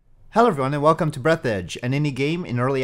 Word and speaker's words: Breathedge: I occasionally pronounce the title of the game Breathedge during the stream because I initially parsed the name wrong, but I'm pretty sure it's supposed to be Breathedge.